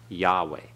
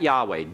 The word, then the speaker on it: Yahweh: pronounced like atere okay both Haze are silent Yahweh okay all right so we pronounce that Yahweh don't pronounce the vowels that are there this